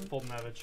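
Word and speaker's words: Foltynewicz: Fultonevich, yeah.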